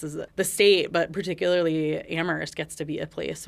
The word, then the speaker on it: Amherst: that you said was Amhurst is really a town known for conversation and for a place where dialogue begins and Where only the H is silent.